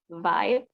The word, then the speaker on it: vibe: are some corrections, like when you say the word vibe. Okay, vibe. You can say vibe. You said vibe, right? So you should say vibe, because when you said 5, it's like a number 5, number 5.